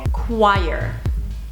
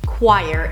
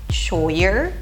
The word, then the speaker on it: choir: If I were to read it phonetically, I would probably say something like choir, but English is not a phonetic language, thank God, which means that the CH stands for a K sound, untraditional spelling pattern, but it happens, K.